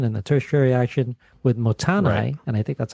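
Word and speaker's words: Mottainai: my group does is uh um I gotta pronounce this m motan m o TT a i n a i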